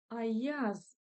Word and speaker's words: аяз: Аяз. Аяз. Ударение на я.